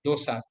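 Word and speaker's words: Doose: marked cognitive regression is two's a syndrome which is pronounced as uh dosa myoclonic aesthetic epilepsy and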